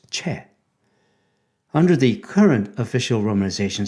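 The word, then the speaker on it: 최: name was romanized as CH o I now how would you pronounce his name Choi right nobody would pronounce it with the actual Korean sound which is chair under the current official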